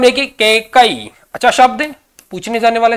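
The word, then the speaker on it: कैकेयी: यहां शुद्ध माना जाएगा उसके बाद में देखिए केकई अच्छा शब्द पूछने जाने वाला शब्द है क कई उच्चारण बारबार कीजिए अच्छी प्रकार क क पर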